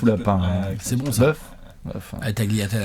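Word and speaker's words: tagliatelle: communitalienne avec les tagliatel puisquévidemment les G se prononcent ils sont absolument support on est en France ici he ouais je sais d'ailleurs la un Italien dès que je dis taliatel il dit tat taliatel ça fera des commentaires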